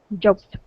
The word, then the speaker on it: joked: up is joked okay give me that T at the end joked okay one more time